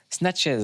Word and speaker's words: Snatches: Snatches, c'est comme ça que ça se prononce.